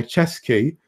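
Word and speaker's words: Ceschi: Until next time, we'll be reviewing Sad Fat Luck by Chesky. And yes, I have it written phonetically in my notes, because it's spelled C-E-S-C-H-I.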